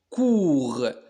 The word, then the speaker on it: court: Commence par la lettre C. تبدأ بالحرف السي. لكن سي هنا تنطق كو. علاش؟ لأن أمامها الحرف أو. دونك تنطق كو comme le mot كولي. المقطع الثاني O E U se prononce OU comme le mot sourd. المقطع الأخير R se prononce R donc court.